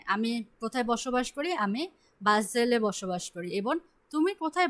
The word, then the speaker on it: Basel: Vezel, Vezel. S single বসেছে। Und wo wohnst du? Wants do, O wants do. Wohnst du? হ্যাঁ, আমি কোথায় বসবাস করি? আমি বাজেলে বসবাস করি।